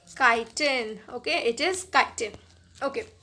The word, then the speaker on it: chitin: अब बहुत सारे बच्चे CHITIN यानी कि इस वर्ड को चाइटिन पढ़ते हैं, but that is wrong pronunciation. इसीलिए मैंने यहाँ पर लिखा भी है that this is नॉट चाइटिन, इट इज़ काइटिन.